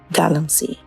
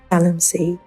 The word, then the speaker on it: galamsey: Galamsey, the local terminology for small-scale illegal mining activities in Ghana. The term evolved from gather and sell. The locals could not pronounce it well, hence Galamsey.